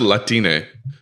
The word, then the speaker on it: Latinx: looks like you know latin x like she's latina latinx apparently that's pronounced latine because x in spanish is pronounced e i've heard that they